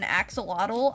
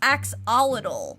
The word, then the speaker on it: axolotl: I hope I'm saying it right, but I think at first I was saying like axolotl, I think I said, and that was wrong, and everyone told me it was actually axolotl.